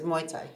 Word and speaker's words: Muay Thai: martial art world, or like the main focus is Muay Thai. Is Muay Thai. Okay. Yeah, that's what it was. What's the difference between Muay Thai and kickboxing?